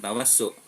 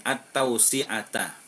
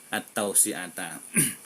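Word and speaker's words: التوسعة: Bukan tawassu. Wasa'a yuwasi'u tausi'an tausi'atan at-tausi'ata, bacanya gitu ya, at-tausi'ata.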